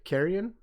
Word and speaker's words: Carrion: is that i've uh downloaded and gave uh carrion yeah is that how you say it yep